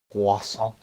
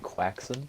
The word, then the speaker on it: croissant: Tom Holland, when he says croissant, or croissant, it's funny because it sounds like he's saying quaxon, apparently. But it's pronounced croissant, right? Like, it's French, so croissant.